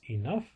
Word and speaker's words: enough: But then you've got two-syllable words, enough, harshness, and offense.